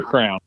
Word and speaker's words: crayon: You color with a crown. I don't get it. That's how they say the wax thing that has colors in it. You're saying crayon? It's a crown. I hear it now. Now I hear it.